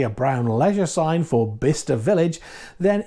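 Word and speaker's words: Bicester: from the UK then this place is spelled like this but it's pronounced bister so if you're driving along the M40 and you happen to see a brown Leisure sign for bister Village then it's a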